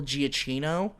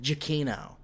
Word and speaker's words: Giacchino: And also, I want to correct myself from episode 1 when I said Michael Giacchino. It's actually pronounced Giacchino.